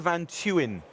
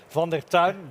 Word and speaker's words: van der Tuin: Joining me, Brigadier General Peter van Tuin. Tuin? I think it's brilliant. Actually, it's pronounced Van der Tuin, but nobody can pronounce Dutch names.